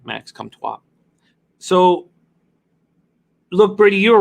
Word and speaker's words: Comtois: But you have to watch how you pronounce his name, Max Comtois.